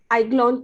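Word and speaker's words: Aiglon: lakshmi i mean congratulations you got graduated from iglon college am i pronouncing it correctly yeah that's that's it yes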